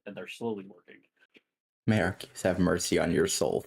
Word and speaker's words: Arceus: May Arceus have mercy on your soul. Thank you. It's pronounced Arcus. Yes.